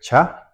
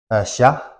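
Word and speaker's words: ཤ: So the first letter is letter cha, which comes from here. Sha, sorry, it's sha, and sha means to become paralyzed.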